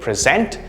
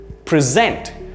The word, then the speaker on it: present: the first syllable there notice the stress on the second syllable there to present something